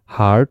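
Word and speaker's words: heard: আবার হার্ট দেখতে বেয়ার্ডের মতো হলেও এর উচ্চারণ পাখির মতো, বার্ড। এরপর ডেডকে বেডের মতো বলতে হয়, আবার বিডের মতো নয়।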